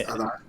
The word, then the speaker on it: Adán: Because The in accent, Spanish, because it's like the Spanish version of the name. Yeah. It's Adán. So it has a little Adán. accent.